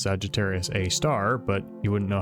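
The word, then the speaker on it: Sagittarius A*: up Google images of Sagittarius a asterisk, which is usually pronounced Sagittarius A star, but you wouldn't know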